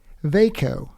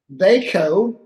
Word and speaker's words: Vajko: We are going to talk about that subject today with a wonderful couple, Jonathan and Carrie Vajko. Rhymes with Waco, even though they're not from Texas.